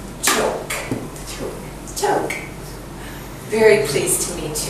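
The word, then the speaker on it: Chhouk: And you spell it, you pronounce it Cho. Choke.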